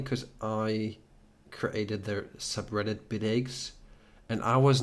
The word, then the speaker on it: Bitaxe: funny in Germany if you do talk about bit eggs most of the people and most of the resellers that I haven't corrected so far they pronounce it completely wrong it's like bit aa oh oh wow is this like some German